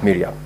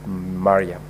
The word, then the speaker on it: Mariam: that in your contributions you made reference to the distinguished Senator Omar sh Mariam as Miram I'm very sure that is because of where you come from otherwise the name is pronounced as Mariam thank you very much